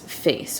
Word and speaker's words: PHACE: officially been diagnosed as face or with face syndrome it's spelled p-h-a-c-e it's very rare they